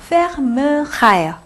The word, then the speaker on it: fermera: 자, 그리고 발음은 이렇게 음절 넘어가서 요 발음 안 한다고 말씀드렸어요. fermera.